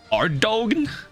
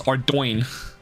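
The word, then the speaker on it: Ardougne: And it was so funny, because there was a town that nobody knew how to pronounce. That was spelled A-R-D-O-U-G-N-E. And people were like, Ardogne? Ardogna? Or Ardogan? Apparently it's Ardoin.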